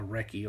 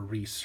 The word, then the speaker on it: recce: But before I get into that, this rifle is what they call a recce, or a Reese, however you want to pronounce it.